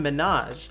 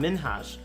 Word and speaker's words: Minhaj: seconds into the interview she pronounced it as hassan minaj rather than hassan minhas prompting him to correct